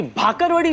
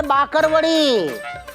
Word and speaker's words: बाकरवड़ी: अरे असली होता है बाकरवड़ी। हाँ पहले उच्चारण सीखो, बाकरवड़ी होती है, बाकरवड़ी। हाँ वही नहीं, बाकरवड़ी। फर्क है भाकरवड़ी और बाकरवड़ी में। बोल के दिखाओ बाकरवड़ी। भाकरवड़ी। अरे बाकरवड़ी, बकरी बोलो, बकरी।